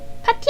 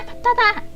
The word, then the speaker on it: 파타: 파티 아니다, 파타다.